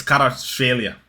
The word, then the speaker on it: Kvaratskhelia: It's Kvaratskhelia, okay?